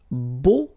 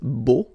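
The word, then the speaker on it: beaux: plural version and it's Bo okay so you put this x at the end but then you don't pronounce it so it's Bo all right B b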